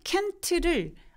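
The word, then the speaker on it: can't: 바로 되니 말씀하신 것처럼 캔하고 켄트를 구분하기 힘든 것도 켄트의 티 소리가 앤소리에 잡아먹히기 때문에 그래서 티를 발음을 안 하는 거예요 그래서 이렇게 이제 좀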